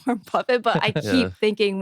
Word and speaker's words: Warren Buffett: funny because I think he would always say Warren Buffet. So like as Yeah, a that's how it's kid, spelled. I Yeah, got it's spelled so buffet, yeah, so I kept so in my head I kept thinking Warren Buffet, Warren Buffet, Warren Buffet. But like now I know it's Warren Buffett, but I keep Yeah.